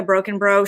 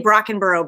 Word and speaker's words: Brockenbrough: today we have martha broken bro she always says i used to say brockenboro but then i read you said it's pronounced like broken toe so i was like